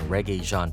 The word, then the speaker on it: Regé-Jean: how to pronounce it the first part is like the music genre reggae then Jean like Wyclef Jean and then Paige alright next up for